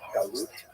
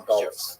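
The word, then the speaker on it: גלות: like a neutralization, but the word in Hebrew, galut, or pronunciation galus, that Jews were thrown out of land.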